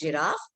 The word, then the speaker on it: giraffe: we should mention because many children will pronounce it as giraffe so we have to correct it there it is not giraffe it is giraffe you can spell it